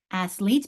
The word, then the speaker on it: athlete: Athlete, because I dropped the E when I added the IC, didn't I? And I went from athlete, a long E, to athletic, a short.